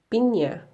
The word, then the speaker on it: piña: Spanish Ñ When pronounced, it's easier to think that it is a set with N+Y. Example Piña is similar to Pinya Now, let's take a look at the vowels (PATINIG).